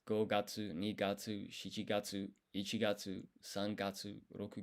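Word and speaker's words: 七月: One interesting thing is July is the 7th month, but it's not nanagatsu, it's shichigatsu.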